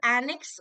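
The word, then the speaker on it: annexe: Okay, एनेक्स, नेक्स्ट word is एनेक्स, और इसमें जो ई होता है ये साइलेंट होता है. Americans have dropped the E. Okay, so American English में you will see एनेक्स does not have N E. British English में हैज एन ई.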